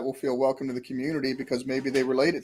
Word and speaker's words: Cxmmunity: And so it's Community is spelled CXMMUNITY. So instead of an O, it's an X there.